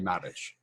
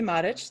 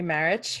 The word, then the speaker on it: Marich: so i am matic thank you for correctly pronouncing it in croatian although most people know me as marich who follow my work